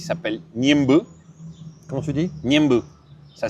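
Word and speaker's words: Ñemby: Niembe. Ça s'écrit Niembi, ça s'écrit Niembi, mais le Y en guarani, c'est dit E, qui veut dire eau.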